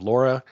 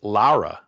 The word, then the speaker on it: Lara: of dish you have Laura and I I just realized after watching the episode I've been pronouncing Laura's name wrong for the last 10 weeks it's Lara La Lara I guess so Lara Amanda and